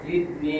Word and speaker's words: زدني: الرحمن الرحيم ربي زدني علما আবার উচ্চারণ আসছে জিদনি রব্বি জিদনি এটা বলছে দুইবার আগাম জিদনি সামনের যে নিচের দুই দাঁত পেটার আগার সঙ্গে লাগে আছে জিদনি রব্বি জিদনি